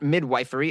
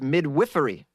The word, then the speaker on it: midwifery: It's not midwifery, it's pronounced midwifery.